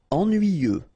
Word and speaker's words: ennuyeux: Ennuyeux. Okay, final X not pronounced. And then ennuyeux. Ennuyeux.